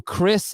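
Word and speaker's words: Khris: Yo, Drew, Chris, and Brooke. Drew is spelled J-R-U-E.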